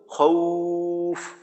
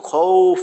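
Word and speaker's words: خوف: হয় রস্য উর মতো যেমন খৌফ ওইখানে কিন্তু খউফ না খ ও না খ উ রস উ খৌফ বিউ বিউ বিউ না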